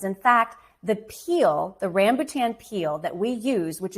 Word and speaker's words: rambutan: would save up to get some fruit called rambutan it's spelled r a m b u ta and it's called rambutan and it's indigenous to that area of the